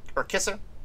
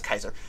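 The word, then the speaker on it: Kiser: speaking of which, the cast includes James Caron, Zelda Rubinstein, however you want to pronounce that, Richard Lawson, Martin Casella, Virginia Kaiser, or Kisser? That's Kaiser.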